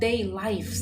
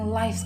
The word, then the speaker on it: lives: Ada daily lives. Oh, day lives. Ini bacanya lives kalau dia sebagai kata benda ya. Kalau dia sebagai kata kerja bacanya lives. Ini sebagai kata benda, lives. Oke.